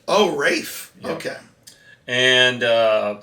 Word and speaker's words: Ralph: Well, but he pronounces it Rafe. Oh, Rafe.